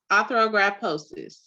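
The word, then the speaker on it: arthrogryposis: hands or fingers due to your AMC and pronounce that for me arthrographosis yes thank you so much I don't want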